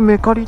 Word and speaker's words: めかり: 書いてますねこれでメカリって読むのもすごいよねコメントでおすすめ